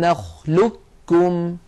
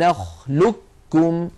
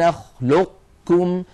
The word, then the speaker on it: نخلقكم: نخلقكم في سوره المرسلات فان العلماء جردوا القاف من السكون ولكنهم شدد الكاف التي بعده اشاره الى وقوع الادغام الصحيح فيه اذا اعود فاكركم بنطق هذا الحرف هكذا الم نخلقكم الم نخلقكم كاف مشدده ولو سمعتم احد يقرا الم نخلقكم بابقاء صفه الاستعلاء لا تظنوا بانه خطا هو صحيح ولكن اعود فاقول